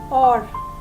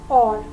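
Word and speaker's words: hour: We also use an before words that begin with the silent H. Silent H as in or. Here we do not use the sound of H. H is silent over here. So we say or.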